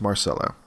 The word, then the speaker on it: Marcelo: definitely correct I go no it's not it it's Mar solo um but but but